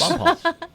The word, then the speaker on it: Bonpas: Kathy, there's so many local pronunciations that can get you in trouble. Like that creek that starts with a B. What's that? Oh, yes. Bonpas. Yeah, Bonpas. This morning, you don't know that it's Phi.